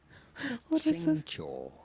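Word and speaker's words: Xingqiu: Shing Shing Chio We are looking at how he is a young man pronouncing his name. Singcho.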